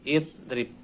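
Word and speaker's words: اضرب: Contohnya ini, doraba yadribu, idrib, nah, dibaca kasroh, idrib.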